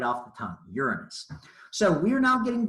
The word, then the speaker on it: Uranus: Friends, this is not your anus, this is Uranus. 3 short syllables. Let's all try that. Uranus. Good. See, when you say it right, it just rolls right off the tongue. Uranus.